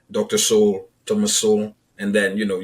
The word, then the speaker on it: Sowell: everyone I hear say his name, it sounds like soul, Soul, Yeah, rather than the soul. yeah. Is that pretty normal? That I don't know. I actually find it interesting that they say everyone pronounces soul instead of Sowell. Mm-hmm. So for people who come across his work for the very first time, they're gonna say Thomas Sowell.